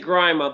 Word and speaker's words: Grima: You can say Grima. It's Grima. fine. Yeah. Grima. Okay. Grima. But you've heard it all kinds of different ways. Yeah, I hear it. Well, in Australia we say Grima, but we're not in